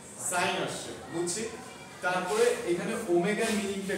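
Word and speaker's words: omega: তারপরে এখানে ওমেগার মিনিংটা কি? এটার উচ্চারণ কিন্তুড না।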